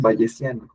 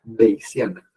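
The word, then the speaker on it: Bayesian: que se llama beana en español le dicen vesana pero si lo pronuncian correctamente en inglés es beana beana estadística beana entonces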